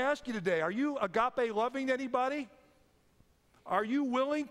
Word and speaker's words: agape: been considering this morning the dictionary indicates that Agape is Christian love or God's love for Humanity